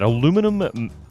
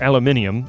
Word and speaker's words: aluminium: Aluminum... or aluminium, as it is spelled and pronounced pretty much everywhere but the U.S.